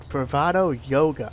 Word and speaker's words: Youga: 1996 Bravado Yoga. I pronounced it right.